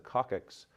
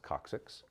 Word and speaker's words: coccyx: favorite movie refers to the coccyx as the coccyx is actually pronounced coccyx your cervical spine is this area of your